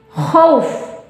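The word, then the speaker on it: خوف: Waw sukun didahului huruf berharokat fathah, membacanya sama 2-6 harokat sebelum diwakofkan. Jadi diulang, khaw asalnya khaw. Nah, berada di ujung ayat menghadapi satu huruf yang berharokat khauf.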